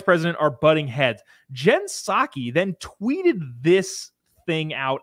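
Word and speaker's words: Psaki: are butting heads jen saki then tweeted this thing out at like 11 o'clock weird on sunday night jen saki the white house press secretary jen pasaki i don't believe in silent letters um tweeted this for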